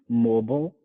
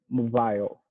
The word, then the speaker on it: mobile: of this um well this is another one that has two acceptable pronunciations mobile okay mobile is more common in the united states and mobile so the second one i believe it's more common in britain and the i is like a long i sound so it sounds like